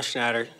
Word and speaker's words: Schnatter: John Schnatter, CEO of Papa John's, brings tons of money to the company that I work for.